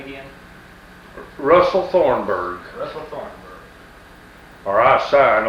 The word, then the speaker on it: Thornburgh: Russell Thornburgh, Russell Thornburgh. or I sign OR. My name, B-E-R-G, B-U-R-G. B-U-R-G-H. That H is silent on it.